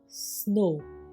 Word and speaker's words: snow: SNOW स्नो, ओ की आवाज़ आ रही है, W की खास आपको ध्वनि नहीं आ रही।